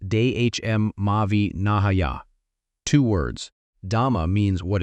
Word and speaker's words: dhamma-vinaya: He called it dhamma vanaya, pronounced dehm mauvi nahaya.